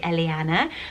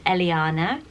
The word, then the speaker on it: Eliana: I had to look up how to pronounce it, because I would naturally maybe say Eliana, but it's Eliana.